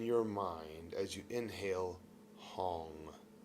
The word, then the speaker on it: Hong: And tonight, as you breathe, say in your mind as you inhale, hong like h o n g hong.